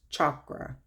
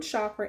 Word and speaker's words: chakra: So for the first chakra, it's really, I say chakra, but it's actually pronounced chakra. Chakra. It's like CH, like if you would say chalk, like chakra.